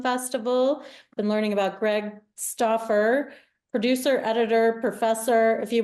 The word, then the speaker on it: Stouffer: yes but it's pronounced staer yes yeah it's like the frozen lasagna only uh only a little different yeah very different very